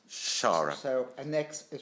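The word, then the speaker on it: Xara: boutique hotels tell me a little bit about Zara Palace well it is shara shara so annex is pronounced as a chef okay a Maltese so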